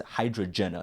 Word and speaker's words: Hydrajenah: That's like, I never really thought about pronouncing it, but it's Hydrajenah. That's how you're supposed to say it.